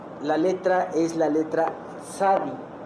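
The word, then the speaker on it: צדי: Y esta sección, la letra es la letra Sadi. Esta letra no aparece en nuestro vocablo como en español. Eh, es un poquito como nosotros cuando pronunciamos pizza, ¿no? Es este una T y una S.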